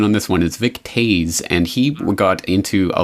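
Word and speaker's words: Vic Toews: But absolutely, and I do know the pronunciation on this one is Vic Tooze, and he got into a lot of trouble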